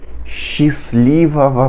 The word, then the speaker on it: счастливого: A combinação das letras es e che no início das palavras em russo sempre puxa a pronúncia para um som de che.